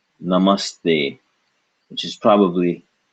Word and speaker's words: Namaste: an ugly duckling name so this is n Namaste which is probably not the way you originally